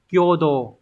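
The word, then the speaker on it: 共同: chọn một số hai từ này được đọc là kyodo Hán tự là cộng và đồng nhưng mà nó sẽ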